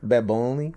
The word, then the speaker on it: Bad Bunny: Bad Bunny. Bad Bunny's number 2. And You also forget, like... And also you didn't say it correctly. Bad Bunny.